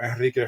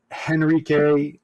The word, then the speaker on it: Enrique: My name's Enrique, or Enrique for those who want to pronounce it properly. Roll the R. Roll the R. It's not hard.